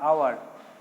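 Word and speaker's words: hour: আবার অ্যান আওয়ার, এইচ ও ইউআর উচ্চারণটা হাওয়ার নয়, আওয়ার, অ্যান বসছে।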